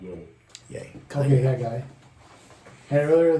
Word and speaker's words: Ye: It's not Ye, it's pronounced Ye. Yay.